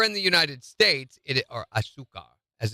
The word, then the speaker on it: azúcar: Here in the United States, or azúcar, as it's pronounced in Spanish, here in the U.S., it's made with corn syrup, which is not good for you anyway.